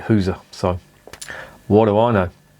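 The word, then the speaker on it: gueuze: girls maybe or who's someone tell me that it's not pronounced hoozer no but nobody pronounces it who's a but a flemish barman i tried to say gurs has he got any girls this was in bruce he didn't know what the i was talking about and he pronounced it who's so what do i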